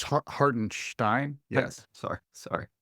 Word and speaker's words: Hartenstein: chance to really play by the way it's hartenstein yes sorry sorry not gonna say his name